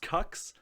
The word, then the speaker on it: Cux: it is right now his first name is c-u-x pronounced cucks i'm not sure if